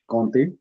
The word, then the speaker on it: conte: We don't pronounce t here. Conte. Conte.